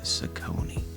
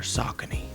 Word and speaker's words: Saucony: the J Tips collab with Saucony, or Saucony. I always pronounce it Saucony, so that's what y'all gonna get.